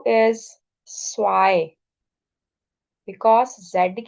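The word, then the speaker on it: zwei: The first word is please focus on the pronunciation. This is null. Zero is null. One is ions one is ions two is Swai because Z की sound is scene की sound and ई आई इज़ आई।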